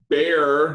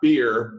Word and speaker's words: Baer: Uh Jay Bear, not beer, bear, right? Like the animal either really is appropriate.